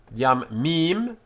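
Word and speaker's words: יַמִּים: The singular is yam, from which the plural differs in that the dagesh forte appears in the m, yam mim, and the changeable a is shortened.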